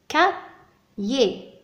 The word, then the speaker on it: cahier: كم جزء نسمع عندما ننطق هذه الكلمة؟ كايي، كايي. دونك سمعنا أولا ك الذي هو سي أ، ك ثم يي.